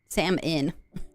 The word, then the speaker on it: salmon: Like, I'm probably a little southern with my pronunciation, but she's like, why is there an L if they don't want me to say it?